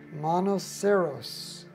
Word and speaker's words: Monoceros: Monoceros? Monoceros. Sounds like a rhinoceros.